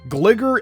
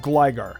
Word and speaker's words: Gligar: Gligar instead of Gligar.